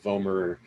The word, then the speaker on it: vomer: called the vomer bone just think of like vomer rhymes with homer homer simpson that's this little blue